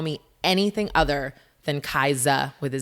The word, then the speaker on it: Kaisa: a great one yeah so my name is pronounced kaiser with us not a z and it's so